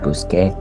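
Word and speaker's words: busqué: the verb would make it's just uh it sounds exactly the same buscar busque it's just written differently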